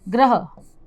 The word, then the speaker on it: ग्रह: कुछ अगर इन्हें शुद्ध रूप से उच्चारण न किया जाए तो एक जैसे ही लगेंगे ग्रह, लेकिन यदि इनका शुद्ध रूप से उच्चारण किया जाए तो भी इनमें बहुत ही थोड़ा सा अंतर होता है, इसीलिए इन्हें कहा जाता